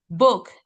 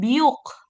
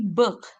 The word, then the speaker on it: book: Nah, ini kalau O ketemu dua, jadi huruf U. Jadi bacanya E. Tadi kan E. Book, gitu kan. Book. Nah, ya kan. Book. Nih. Bukan biuk, tapi bek.